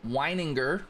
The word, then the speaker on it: Weininger: Now we got Daryl Weininger. That's how we say his name.